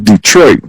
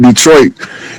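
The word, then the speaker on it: Détroit: So um the straight which is the we call it Detroit but the French pronunciation is the twah is a reference to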